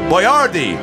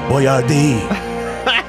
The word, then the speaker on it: Boyardee: Some people mispronounce it. They go, Boyardee. And he's always quick to go, it's Boyardee.